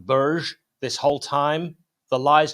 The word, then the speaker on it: Berge: man and of course we lost a sander Berger now apparently it's pronounced Burj this whole time the lies just continue but